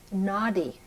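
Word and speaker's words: Nadi: since 1988 to two people that are called Naughty readers in India aady is an ancient manuscript it's spelled n a DI if you can imagine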